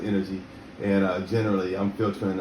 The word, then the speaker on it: NNerg: nnerg that's the energy that's pronounced energy and uh generally i'm